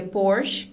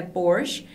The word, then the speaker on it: Porsche: com sotaque dele é por che e ele compara com o porte que a varanda então a diferença na pronúncia é justamente nesse nessa última sílaba uma época xvii com